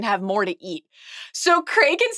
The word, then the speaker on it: Cregan: I will say, I get a little anxious about pronouncing Cregan. It's a Cregan. I used to think just reading it that it was Cregan, and then once they started saying Cregan, and the Craig thing is helpful. Craig is helpful that way.